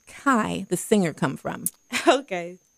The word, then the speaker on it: Kai: So I chose my middle name, which is actually K, but it's spelled K-A-I.